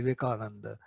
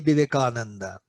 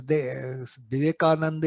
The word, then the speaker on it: Vivekananda: its editorial said, Vale Vivekananda. They said Vale Kananda, because Vivekananda is a 5-syllable word. It is difficult for the foreigner. So they used to say Vive Kananda.